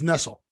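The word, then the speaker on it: Nestlé: off sucks irritating so Nestle because it's Nestle but it has hyphens over it yeah changes it but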